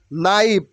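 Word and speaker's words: knife: বো বউ বউ মানে গাছের ঢাল ওকে নাইফ নাইফ K will be silent hair only N আই এফ E will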